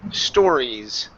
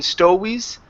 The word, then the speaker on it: stories: And last one here is crazy stories. Okay, so two things here. Work on that E sound at the end, both in crazy and stories. Okay, as well as the R instead of quasi and stowies.